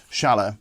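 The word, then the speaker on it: Schaller: But this strap rather, has these Schala strap locks on. Schala, depending upon how you pronounce it. I think our German friends call it Schala, but even still, these are the strap locks in question, right?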